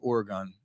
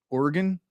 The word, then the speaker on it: Oregon: How should I say Oregon? Oregon. Is that how you say it? That's how I say it. Oregon. That's how I say it. Oregon. The Oregon Trail. Oregon. That's how I refer to the Oregon Trail, not the Oregon Trail.